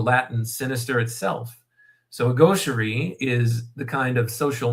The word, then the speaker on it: gaucherie: So chapter 7 has the name The Gaucherie of Virtue. I'm not sure if I'm pronouncing that word right, but gauche, I've heard